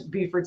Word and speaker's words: Beaufort: And then you've got Miss Beaufort, South Carolina herself. I know, is it Beaufort or Beaufort? Did I say it wrong? Beaufort, no, you got it.